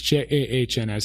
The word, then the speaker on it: Jahns: And that's Johns with an A. It's Jahns.